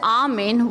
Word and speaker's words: A(wo)men: Now, you might be wondering why I'm pronouncing it as Armin and not a woman or a woman.